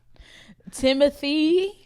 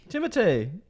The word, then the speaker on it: Timothée: Timothy. Timothée. That's how you pronounce his name, technically.